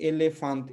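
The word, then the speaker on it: elefante: सकते हैं कि एलेफांत, इसमें जो है तीन एज हैं। मैं ए पुर्तगाली में उच्चारण कर रहा हूँ, ठीक है। इसमें तीन एज हैं, तो पहला दूसरा ए है, लेकिन आखिरी वाला अ है, ठीक है।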